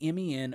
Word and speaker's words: MEN: WWF Rebellion, a UK-only pay-per-view, took place at the MEN Arena. Oh, that was men. Yeah. I think it's pronounced M-E-N, but it's all capitalized men in Manchester, England.